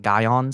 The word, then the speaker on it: Gihon: water from the I don't know how to pronounce it, Guyon Spring, Hmm. something like that. Sure. It's okay. Um, The just Gihon, yeah.